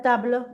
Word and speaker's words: table: Mira, tablono. Tablo. Se escribe como en inglés, pero no se dice como en inglés.